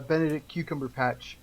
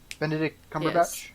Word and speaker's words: Benedict Cumberbatch: give him the uh Benedict cucumber patch uh treatment except we actually like Benedict cucumber patch you don't say his name correctly Benedict Cumberbatch I'm like don't you